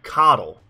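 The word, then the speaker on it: Qatal: build suggestions for the coddle i think is what i was told is how you pronounce it the coddle dagger more of a k sound than like the q u sound i was trying to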